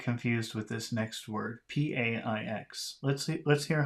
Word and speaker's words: paix: P-A-I-X. Let's hear how he pronounces it.